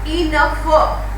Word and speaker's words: enough: See, enough. So GH is making the sound of F, or you can say fur, right? So enough, tough fur, laugh fur, rough fur, that is fur.